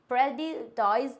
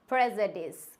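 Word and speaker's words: prejudice: प्रेजुडाइज नहीं होता है। इसको हम इंग्लिश में प्रोनाउंस करते हैं प्रेजुडिस। क्या होता है? प्रेजुडिस। क्या बोलते हैं? प्रेजुडिस।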